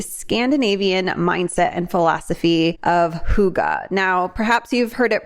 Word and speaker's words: hygge: diving into the Scandinavian mindset and philosophy of Huga now perhaps you've heard it pronounced in different ways I for many years heard it pronounced as Hai but the actual pronunciation is Huga all right and we'll leave it there so